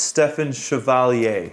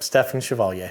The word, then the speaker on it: Stefen Chevalier: And I'm saying it right. It's Stefen Chevalier. Yep, Stefen Chevalier. Chevalier, yeah, and that's French, right?